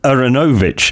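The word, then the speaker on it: Aaronovitch: Yeah, we have the three Bens, Ben Folds, Ben McIntyre, and Ben Aronovich, as it's meant to be pronounced, I have found out.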